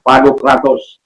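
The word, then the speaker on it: Pantokrator: Kalau sering kita dengar Pantokratus, ya, tapi ini pronunciation yang benar, Pantokratus.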